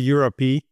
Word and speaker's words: EURØP: I got to ask before we start, EURØP, what's the official right way to pronounce it? Is there one? So I think internally we call it EURØP because it's just more clear and more unique, I guess.